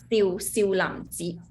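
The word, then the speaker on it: 少林寺: That is Xiu Lam Ji, third tone.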